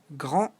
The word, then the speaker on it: grand: Grand, grande, grand, grande. As you know, in French, the last consonant, in this case the D or the S, are silent.